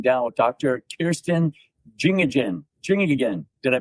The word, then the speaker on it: Janjigian: Janjigian. Did I pronounce that? Janjigian. Janjigian. Janjigian, okay.